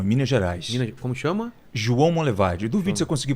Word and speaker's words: João Monlevade: o rio não em Minas Gerais como chama João Monlevade duvido você conseguir pronunciar corretamente João Monlevade João Monlevade isso vamos